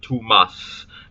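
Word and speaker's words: tumas: Like, for example, the phrase, the Tokpisin word too mas, meaning, well, obviously, literally means like too much, but also very. Note that the S at the end is like dragging on like a snake.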